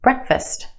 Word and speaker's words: breakfast: Fast. Put it in this word and it becomes fist. Fist. Breakfast.